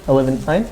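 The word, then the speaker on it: Olivenhain: and it's Livenhain Pioneer Hill Elementary. Livenhain?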